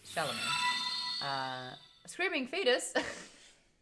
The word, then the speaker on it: Chalamet: a timothy chameleo chalamet i get his name wrong all the time i say chamolay and it's shalom uh screaming fetus [